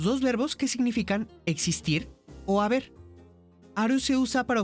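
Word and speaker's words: を: Aunque se escribe con el hiragana wo, se dice o como la vocal.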